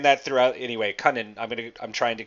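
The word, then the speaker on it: Kunin: by the way is the way Han was pronouncing it so I'm gonna oh yeah did I say coonan I I keep screaming I know I I had been saying that throughout anyway Conan I'm gonna I'm trying to correct myself not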